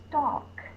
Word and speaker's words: stalk: a box T all there is a silent l so if there's a silent l and a a in front of it the a is going to say a stock the next words we're